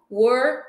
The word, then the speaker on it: were: E olha essa pronunciation do were. Mais uma vez. Were. Bem fechado para teacher, ok?